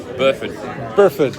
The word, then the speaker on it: Burford: Burford. Yeah. That's all right. A lot of Americans say Buford.